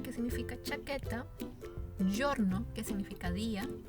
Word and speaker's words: giorno: Giacca, que significa chaqueta, giorno, que significa día, y giudice, que significa juez. Bien, recordemos los sonidos: giacca, giorno y giudice.